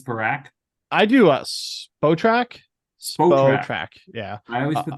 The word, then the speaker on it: Spotrac: I do Spotrac.